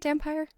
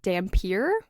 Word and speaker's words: dampire: Do you say it dampire? I say it vampire. Okay, I say it dampire as well. The audiobook says it dampier, Oh, but I've always yeah. pronounced it dampire, so we're gonna keep it dampire.